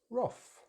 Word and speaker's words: wrath: But I will say I hear a lot of Brits just use wrath rather than roth, roth. But the correct British English pronunciation is roth.